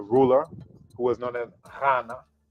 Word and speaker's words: Ghana: who was known as Ghana. So it's not a G sound either. People in the country called Ghana, they actually can't even pronounce it right. But the GH is a R sound.